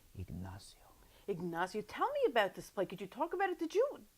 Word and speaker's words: Ignacio: so Now, I was saying Ignacio, but I was told by a Spanish gentleman recently that the pronunciation is Ignacio.